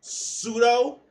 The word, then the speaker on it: pseudo: words out loud so when you hear pseudo you know not to you know pronounce the P like pee no pneumonia like okay